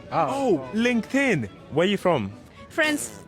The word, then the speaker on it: LinkedIn: Lincoln. Oh, LinkedIn.